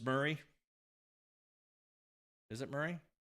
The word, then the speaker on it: Murray: Mur Murray Murray am I am I how do I am I read it right Murray just like Bill Murray maybe I'm saying it wrong I'm not even in